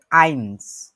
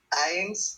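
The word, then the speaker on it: eins: তারপরে যেটা 1, যেটা বাংলায় 1, এটাকে বলে আইনস।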